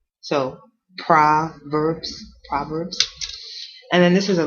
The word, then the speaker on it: Proverbs: now we looking at proverbs proverbs proverbs prbs so this is an o and it looks like proverbs but actually you pronounce it almost like an a so prbs proverbs and then this is